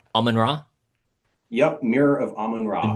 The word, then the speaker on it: Amun-Ra: I love that Cleopatra right at the start of I want to make sure I'm pronouncing it correctly. Almond Raw.